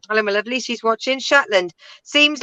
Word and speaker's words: Shetland: And then Ian goes, your subtitle pronounced Shetland as Shiteland.